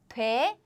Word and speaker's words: 돼: So the conjugation seems simple. 돼. It does not include a or o.